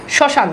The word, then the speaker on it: শ্মশান: আচ্ছা এরপর খেয়াল করে দেখেন এখানে দেখেন ম কিন্তু নাই, এরপর দেখেন এই যে চন্দ্রবিন্দু চলে এসেছে, শ্মশান, দেখেন এই যে চন্দ্রবিন্দু চলে এসেছে কিন্তু মফালা নাই।